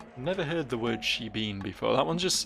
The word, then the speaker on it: shebeen: over again, that word shebeen. I need to go have a chat at a shebeen. Shebeen? Shebene? No, definitely not pronounced that way.